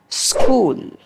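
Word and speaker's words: school: কি বলি আমরা স ওকে এরপরটা কি বলি স্কুল আমি অনেকেই শুনতে দেখেছি তারা একটু উচ্চারণটা স্টাইলিশ করার জন্য কি বলে স্কুল স্কুল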